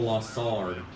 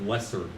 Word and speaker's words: Lessard: I always say Raphael Lassard, because, like, it rolls better with Raphael. But it's like Lessard.